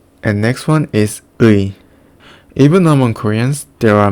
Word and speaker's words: 의: The correct pronunciation is 의. And it feels like pronunciation ư and 이 quickly. 의. In some cases, it is pronounced as ư or 이. And also some people just pronounce it as or e.